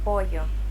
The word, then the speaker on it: pollo: Now, let's listen to how Alex pronounces this sound in a few words. Llamar. Llamar. Llave. Llave. Pollo.